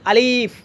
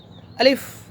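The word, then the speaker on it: ألف: আমরা ছোট ছোট ছোট যখন ছিলাম তখন আমরা শিখতাম আলিফ। এটা আলিফ নয়। এ হচ্ছে আলিফ। এরা শুদ্ধ উচ্চারণ হচ্ছে আলিফ।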